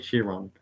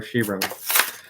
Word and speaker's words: Chiron: First up is the 2016 Bugatti Chiron, or Chiron. I know people have a different way of how they pronounce this, but I'm not picky of how you pronounce this.